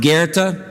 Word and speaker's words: Goethe: It's that weird name that, if you remember from school, is spelled G.O.A.T, but is pronounced Goethe.